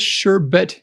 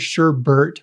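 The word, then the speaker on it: sherbet: is a weird one sherbert and i guess sure but is the correct pronunciation i always heard sure bert when i was little that's how i said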